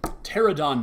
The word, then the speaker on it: Pterodon: Next up, we've got Pterodon Knight. The P is silent, people.